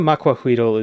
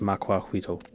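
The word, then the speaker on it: macuahuitl: Although I don't think it's actually pronounced macuahuito. It's spelled that way, but I think it's macuahuit. Or huitre. Like the TL sound in Nahuatl is unique.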